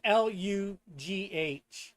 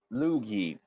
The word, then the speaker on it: Lugh: Who was a trickster storm god, Oh, and that's Lugh. Loogie. Yeah, that's how I pronounced it too.